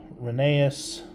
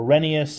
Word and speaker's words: Rheneas: There's more of the riveting and his name plate, Reneeas or Renius if you're in the UK. I believe that's how it's pronounced.